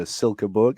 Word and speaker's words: Silkeborg: You're playing in obviously the Danish top division for Silkeborg.